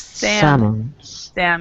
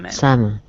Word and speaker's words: salmon: fish and seafood uhhuh yes okay and the pronunciation of this one actually is the the L isoun so s salmon salmon yeah and sard sardines or S sardines sardines